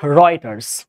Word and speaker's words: Reuters: সো REUTERS, এটা কিন্তু রয়টার না, রয়টার অপশনে থাকতে পারে, রয়টার না রয়টার্স।